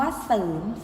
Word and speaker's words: เสริม: ต่อ ไป คำ ว่า เสริม สร้าง 2 พวก เรา เรือ ชนะ สาบ เสือ รอ เรือ แต่ เวลา ออก เสียง เรา ไม่ อ่าน ออก เสียง เรือ นะ คะ เพราะ ฉะนั้น